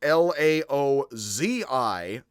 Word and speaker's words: Laozi: J and Lao Tzu, which is Laozi, Z, and you say it with a bit of a soft T and a bit of a J, like a bit of an H.